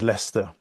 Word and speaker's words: Leicester: I'm in a city called Leicester. It's one of those Leicester. annoying places that is not pronounced anywhere close to how it's spelled.